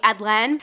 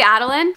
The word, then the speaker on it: Adeline: of saying my name I just say Adeline it's like Madelyn without the M so don't say anything